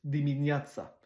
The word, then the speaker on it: dimineața: Le T avec une genre de cédille en dessous, c'est comme TS, dimineața.